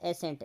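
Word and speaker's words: ascent: एक्सेंट, pronunciation common to A reason, किसी क्षेत्र में बोलने जाने वाला एक एक्सेंट, उच्चारण, वो एक्सेंट होता है। एक ए एस सी ई एन टी होता है, एसेंट, एसेंट का मतलब होता है चढ़ना, असेंडिंग ऑर्डर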